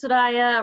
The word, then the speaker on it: Soraia: so my name is su daya rhymes with papaya that's how I am